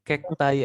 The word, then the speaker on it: cacti: Nggak usah ditekan ya, bagian belakangnya nggak usah ditekan, guys. Jadi cukup cacti aja.